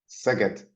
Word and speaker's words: Szeged: Máté Manczinger, Máté graduated with a medical degree from the University of, I'm going to get this wrong, the pronunciation, Szeged? Szeged.